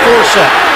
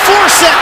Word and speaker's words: Forsett: to pronounce his name, it's like Dorsett, Tony Dorsett, Justin Forsett, and it's Forsett down the sideline.